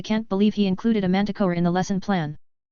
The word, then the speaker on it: manticore: I can't believe he included a manticore in the lesson plan. What's manti, or? Harry asked, Bewildered. Manticore, Ron said in a breath as he pronounced the correct name, referring to it afterward.